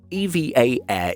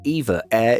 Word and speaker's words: EVA Air: EVA Air is the correct way to pronounce it. However, saying it like EVA Air is also acceptable, so don't worry about it.